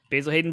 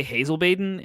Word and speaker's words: Basil Hayden: not a real thing basil hayden bourbon right yeah i said it right for some reason i would say hazel baiden and that's not correct so we really are